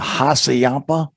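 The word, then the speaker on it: Hassayampa: and stop at the haciampa barbecue yeah did i say that right you did barbie yeah you got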